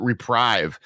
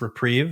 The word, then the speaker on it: Reprieve: on the podcast but reprive one in a white instant return Target spell to its owners and draw a card remand is a white card now uh I believe this card is pronounced reprieve just for the listeners